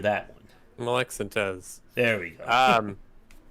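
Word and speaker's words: Molek-Syntez: that to more programming focus until making a molex synth well i'm pretty sure i just horribly butchered that one molexantos there we go um it's russian maybe maybe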